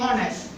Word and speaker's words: honnête: Ça s'écrit avec H, mais il est prononcé avec O.